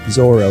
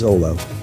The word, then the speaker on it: Zoro: has two different names zoro is sometimes called as zolo one of the reasons is that l and r sounds in japanese pronunciation while addressing his name on the other hand